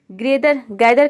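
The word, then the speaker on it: gather: गैदर का मतलब होता है इकट्ठा करना, गैदर।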